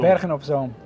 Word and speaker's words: Bergen op Zoom: Dutch bagel here in Bergnopsal. Notice he's very careful pronouncing it. Bergnopsal. Bergen op Zoom.